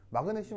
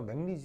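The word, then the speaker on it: magnesium: 맥니 맥니 니 어 마그네슘 아니고요 맥니스 이라고요 예 그래서 그 교수님이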